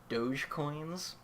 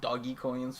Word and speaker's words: Dogecoins: been getting really into, gotta try to pronounce this right, Dogecoins, which I've been pronouncing doggy coins, which I'm told is wrong, which is kind of a Bitcoin cryptocurrency spoof.